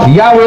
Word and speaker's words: Yahweh: yapon mao nga ang Yahweh YHWH sa Latin JHBH pero sa paglitok Yahweh lang yapon ay kay ang pronunciation o ang paglitok sa J pwede po og Y mo nang